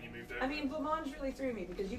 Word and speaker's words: blancmange: guys mostly It's pronounce blancmange. No. You guys pronounce French words very Britishly. So I was very surprised. So like you say like garage and fillet, like you don't even try. And then suddenly you get